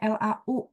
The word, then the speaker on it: 老: Jadi benar dia bacanya LAU ya. Cuman kalau kita pinin yang benar LAO. Jadi di bahasa Mandarin itu nggak ada AU tapi adanya AO ya. Jadi kayak hao kan bunyinya itu HAU ya.